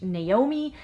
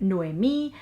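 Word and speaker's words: Noemí: By the way, I did look up the pronunciation of the Spanish version of the name and I assumed it wouldn't be like the English Naomi, and I came up with Noemi.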